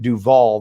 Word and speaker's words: Duval: west called duval street duval they pronounced like robert duvall and the idea it's